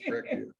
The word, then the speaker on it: breccia: volcanic tuff, and I don't know how to pronounce this word, breccia, B-R-E-C-C-I. I know breccia. Yeah, Okay. I know it's breccia.